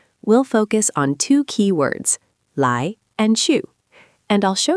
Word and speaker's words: 来: The word you need is lái, pronounced lái.